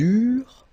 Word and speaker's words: eurent: Okay, remember that when we've got this ENT ending at the end of the plural form, so third person of the plural, you don't pronounce it, so you get eurent.